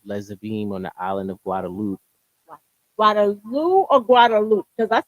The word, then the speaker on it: Guadeloupe: on the island of Guadeloupe. Guadalupe or Guadalupe? Because I say it wrong all the No, time. Guadeloupe. Now Guadalupe. Guadalupe is in Mexico.